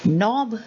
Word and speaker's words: knob: knit we talked about knob then there is knock there is not there is no and there is knowledge so all these k's are silent okay now you have